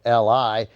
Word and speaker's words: Li: artist who looked vaguely like Bruce Lee. They changed his name from Ho Chong Tao to Bruce Lee, Li, altering the spelling, but not the pronunciation.